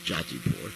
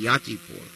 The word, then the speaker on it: Yatipur: Some say Jatipur, depending on your pronunciation. But actually, Sanskrit pronunciation would be Yatipur.